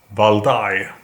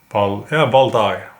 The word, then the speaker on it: Valdai: So that is why I decided to order the A&R Zlatoust Valdai. I think that is how it's pronounced. Valdai.